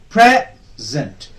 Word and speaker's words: present: Present. Because it is a noun, when it is used as a noun, the stress will be on the first syllable.